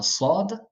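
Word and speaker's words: صاد: vous voulez cette lettreci et bien la voyelle qui suit est beaucoup plus sombre enfin elle est beaucoup plus fermée euh si je ne me trompe pas enfin en tout cas elle sonne différemment voilà je sais pas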